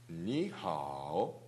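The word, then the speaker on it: 你好: 아니면 화난 사람처럼 인사가 됐어요. 니하오. 니하오. 니. 니. 천천히 끝까지 올라가세요. 니하오. 니하오. 좋습니다. 아주 좋습니다. 그 다음 니하오.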